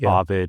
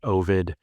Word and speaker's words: Ovid: And and there are differences where people in America versus Britain like it's ovid and oid that came up with Greg of Reddit. So um they can both be right.